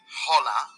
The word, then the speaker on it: hola: spanish repeat it hola don't forget that the h is silent in spanish so you shouldn't say hola or ola correct pronunciation is hola como estas which